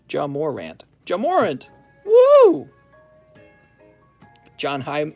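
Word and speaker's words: Ja Morant: guy's a big pul his name is pronounced Jam Morant Jam Morant woo John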